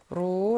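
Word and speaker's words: รู้: 목소리 를 높여 " 루 " 라고 하면 " 알다 " 라는 뜻 이지만 , 공손 하고 존칭 을 담은 표현 도 있습니다 .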